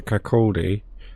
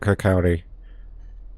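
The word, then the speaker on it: Kirkcaldy: are now arriving into Kaki I called it kalii that's my incorrect pronunciation so cord get those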